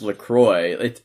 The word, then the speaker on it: LaCroix: But it's an American company, and it's LaCroix. And on their branding, it's like LaCroix rhymes with enjoy.